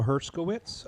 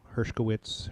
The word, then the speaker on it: Herkowitz: my name is herkowitz I go by the stage name because htz is a difficult last name um it gets butchered a lot hka witz herish witz Hershey wtz all the stuff so